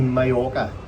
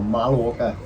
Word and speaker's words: Mallorca: So we have arrived here in sunny Mallorca, or Mallorca, how the locals like to pronounce it, in Alcudia.